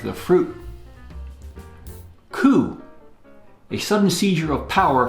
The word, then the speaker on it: coup: Coup, a sudden seizure of power from a government. Coup. It's a French word, and the P is silent.